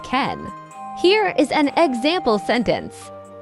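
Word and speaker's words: けん: Before kanji came to Japan, the native Japanese reading was enu. The reading that came from China together with the kanji is ken.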